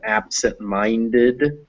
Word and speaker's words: absent-minded: the full word so for instance absent minded absent and mind both get stressed but yes but mind is the most stressed and absent is the second one so absent is still